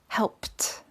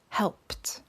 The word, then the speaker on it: helped: harsh as a k the next example we have is help which becomes helped notice that none of these had an id so again our examples are talked kissed and helped now let's move on